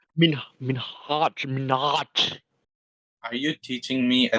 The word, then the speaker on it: Minhaj: No, it's Like not he did Minhaj. a. It's Minhaj. Are you teaching me a Desi name how to pronounce, you fucking white piece of?